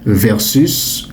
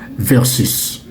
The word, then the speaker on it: versus: Mais à l'oral influencé par l'anglais, le sport, les médias, vous entendrez souvent versus. Parfois prononcé à la française versus. Ok? Donc vous entendrez parfois le son versus ou encore le son versus.